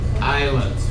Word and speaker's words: island: They only give you a few islands. You remember the word island? Yeah. It's island. No s sound.